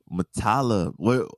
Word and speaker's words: Muttalib: Muttalib. Where's that from? It's Arabic. Yeah, it's an Arabic name.